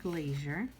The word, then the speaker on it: glacier: look for the word glacier we have it right here right here on the bottom and notice where the accent is right here at the first syllable so then you would